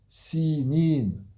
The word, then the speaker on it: سينين: C'est pas le monde des années, c'est Sinin. Donc faites attention quand vous lisez, ou si vous avez appris par cœur ce verset, de bien prononcer le ya ici. Sinin.